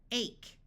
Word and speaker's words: ache: Note that although silent E usually only works if there's one letter between the vowel and it, CH has one sound, so this E still makes the A have its long sound.